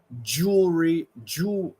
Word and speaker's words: jewelry: words sound the same jewelry jewelry and jury no well the first one is going to be jew like a long double O and the second